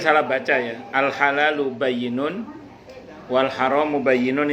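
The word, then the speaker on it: بَيِّنٌ: Al halalu bayyinun wal haramu bayyinun, itu bayyinun itu tulisannya ba ya nun ya. Ba ya nun, bayyinun itu jelas. Itu orang Jawa Timur bacanya halal pen, haram pen.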